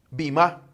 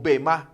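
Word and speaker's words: βῆμα: Esa palabra tribunal en el idioma original en que se escribió la Biblia es bimá o bemá, según el diccionario que podamos ver o como lo pronunciamos.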